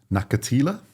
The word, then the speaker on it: Nakathila: Nakathila.